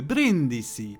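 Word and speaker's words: Brindisi: forever and being farmed by the eggier and brindissi by the way i just googled the correct pronunciation of the brin dc in case someone from italy is watching sorry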